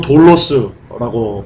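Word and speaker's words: δόλος: 여러분 이 간사는요 원어로 돌로스라고 발음합니다.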